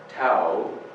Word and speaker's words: Tao: The Tao Te Ching, by the way, T-A-O, Tao, looks like, but it's pronounced Tao.